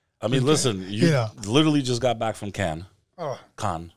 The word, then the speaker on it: Cannes: How do the French say it? Cannes. Cannes, yeah, Cannes. They don't pronounce the S.